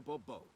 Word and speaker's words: Bourbeau: I expect you to address me as Sir, or better yet, as Monsieur de Bourbeau. Fine. Monsieur de Bourbeau. The emphasis falls on the last syllable.